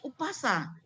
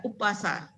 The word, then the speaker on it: Umpasa: Umpasa tulisannya tapi dibacanya upasa Kenapa ya kok mim jadi P ya Orang batak itu menyebutnya tulisannya Umpasa tapi dibaca upasa yang ketiga Minangkabau Minangkabau